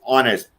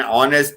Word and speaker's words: honest: same time n r here h is silent when we pronounce an r it is